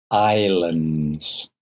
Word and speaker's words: islands: pambahrain are all Islands Islands pronunciation no s Islands Asia and Africa are